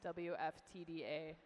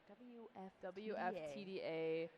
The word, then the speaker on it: WFTDA: I've just been informed that I've been mispronouncing WFTDA. That's like that's a mouthful. It is a little bit, yeah. You gotta practice it. Okay. Yeah. I guess Make sure you enunciate all the letters.